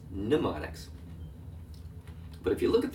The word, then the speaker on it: mnemonics: In fact, if you look at the word, it's a strange word because it begins with the letter M. If the M is silent, it's mnemonics.